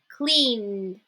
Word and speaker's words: cleaned: If the last sound of the verb is voiced, meaning I use my vocal cords to pronounce it, it will also be pronounced as a D. So now we're not pronouncing the ed, we're just saying d, okay?